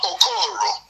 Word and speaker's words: Okoro: I know it's spelled like OKIO, but the pronunciation is different. Dr. Okoro, because we have people running around here confusing on people who wants to play a role.